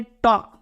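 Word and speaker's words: talk: पढ़ते टॉक नहीं गा इसको हम खाली क्या पढ़ते टॉक क्यों क्योंकि इसमें के के पहले एल आ रहा है तो ये एल को साइलेंट रखा जाता है पढ़ा जाता नहीं है उसी तरह गाइस बी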